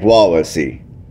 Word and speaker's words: Wawasee: So the lake is called Lake Wawasee, and Lake Wawasee and Lake Syracuse are both here in Syracuse, Indiana.